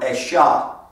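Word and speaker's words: אשה: not the hebrew word it's the hebrew word esha now and the word esha actually is referring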